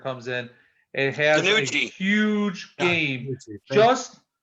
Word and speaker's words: DiNucci: Danucci? DiNucci. Ben DiNucci. How His weird. name rhyme with Gucci.